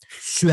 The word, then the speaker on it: sur: 16ème siècle qui disait il faut prononcer su à table c'est à dire faut pas prononcer le 1er du mot sur ok c'était comme ça